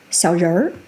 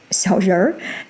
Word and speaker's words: 小人儿: If you say 小人儿, 小人儿, adding the retroflex sound at the end, it goes back to meaning a tiny person.